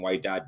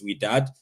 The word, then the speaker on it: Wydad: That's how they say it. I think so. I kept saying Wydad, but it's Wydad.